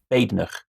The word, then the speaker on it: Badenoch: It should be Badenoch with a silent E.